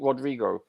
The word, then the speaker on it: Rodri: Roger said to speak now uh is that Rodrigo or Roderick is it full name Rodrigo full name rodri okay okay um right when he played for Spain wasn't it Rodrigo no no no no I'm just asking I